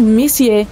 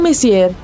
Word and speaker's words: Messier: m42 e m43 bom o m significa messier pronunciado messier e não messier Charles messier para ser